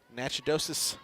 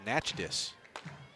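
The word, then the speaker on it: Natchitoches: the right-handed jior from nachid dois Louisiana transfer from Memphis drops in for a strike 02 actually I mispronounced that it's natchus Louisiana leo2 High one ball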